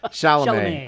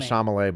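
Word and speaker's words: Chalamet: get his name wrong shalam I always want to call him Shalay but it's shalam it's close but different conclave Dune part two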